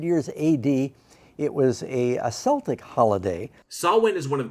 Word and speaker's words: Celtic: for those studying language and history Doug it's pronounced Celtic Celtics is reserved for Boston basketball and a beloved